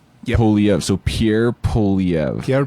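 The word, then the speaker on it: Poilievre: Poliev. So Pierre Poliev. Pierre Poliev.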